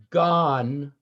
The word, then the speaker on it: gone: Gone rhymes with none. Through the forest I have gone, but Athenian found I none.